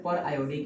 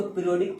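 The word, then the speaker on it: periodic: पर आयोडिक acid, देखिए अगर मैथमेटिक्स चलता तो इसको पीरियोडिक पढ़ा जाता, बट केमिस्ट्री है तो इसको पर आयोडिक पढ़ा जाएगा। स्पेलिंग सेम होता है पीरियोडिक और पर आयोडिक को। इसको मैथ्स में पढ़ते पीरियोडिक, बट इसको केमिस्ट्री में पढ़ेंगे पर आयोडिक।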